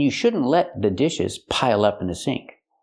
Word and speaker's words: pile up: Pronounce it like one word. Don't say pile up, say pile up.